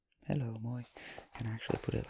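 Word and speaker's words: moi: here we have the first thing um it's Moy hello Moy and I actually put it like this I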